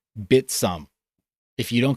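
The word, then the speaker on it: Bithumb: It is not BitHum. It's not BitThumb. It's a South Korean exchange, and it is literally pronounced by the founders Bitsum.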